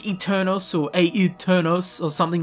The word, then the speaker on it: Aeternus: would have called this eternus but no it is actually an Italian word derived from a Latin word which is exactly the same and pronounced really strangely eternos so yeah if you